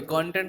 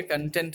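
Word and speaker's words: content: कंटेंट मतलब आराम से, सॉरी कंटेंट नहीं बोलेंगे, कंटेंट बोलेंगे, याद रखिए। कंटेंट एंड कंटेंट same spelling है, बट प्रोनाउंसिएशन के डिफरेंस से मीनिंग भी डिफरेंस हो जाती है, ठीक,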